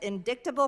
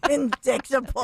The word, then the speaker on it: indictable: with the commission of indictable crimes and the abuse of power oh my God yeah the SE the SE silent indictable it's like ght is the way pronounced indictable so is this worse